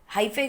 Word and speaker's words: hyphae: now these thread like structure above the bread mold are called as hyphae. Can call is hyphae, hypha, whatever you feel like. वी can call it, जो भी है, लेकिन spelling याद रखिएगा। हाइफे याद बोलोगे तो spelling याद हो जाएंगे, लेकिन प्रोनाउंसिएशन गलत हो जाएगी।